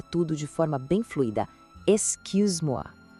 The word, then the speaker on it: excuse-moi: Tente fazer o som de I, mas com a boca no formato de U, assim, cu. A segunda parte é ses. E por fim, moi.